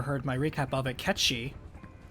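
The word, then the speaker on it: Cait Sith: my recap of it catchy because that's how you pronounce that that's the name of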